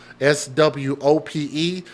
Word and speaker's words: Swope: i i Sky Swope s w o p e so with that o being in the middle it's a singular o instead of two o's with that P following the vowel I think you pronounce that as long o instead of short so I think it's Swope shout out to my